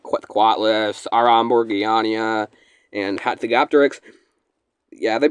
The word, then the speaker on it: Quetzalcoatlus: It's Quetzalcoatlus. Oh, man. I can't even remember how to pronounce it now.